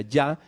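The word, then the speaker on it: Jah: En algunos pedacitos de los salmos encontramos el famoso ja, el famoso ja, que es se pronunciaría ya, que es la contracción de Yahoo.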